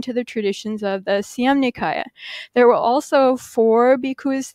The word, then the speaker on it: Siam Nikaya: the traditions of the Siam Nikaya. There were also four bhikkhus there, which is a bhikkhu sangha, from the Thai Siam Nikaya, it's pronounced in Thai, Siam Nikaya tradition, or Siam Upali Vangsa.